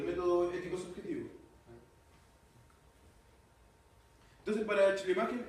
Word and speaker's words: Schleiermacher: No es Schumacher. No, Schleier. Macher. Chubaca. Parecido.